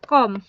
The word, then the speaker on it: calm: Okay, She was entirely calm. She was entirely calm. She was entirely calm. Okay, इसमें जो L silent है, okay, वह पूरी तरह शांत थी।